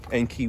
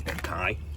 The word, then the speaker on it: Enkei: These huge Enki wheels, or I was told it's pronounced as Enkai.